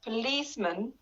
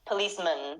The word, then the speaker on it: policeman: say it man but inside the word policeman you have to make it a short word or a short syllable so it is policeman policeman we turn it into a schwa sound there i've talked about